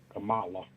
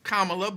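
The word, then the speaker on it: Kamala: yeah I'm voting for Cala how you think she'll take that she would probably just be like okay she might even correct you like it's kamla but I appreciate your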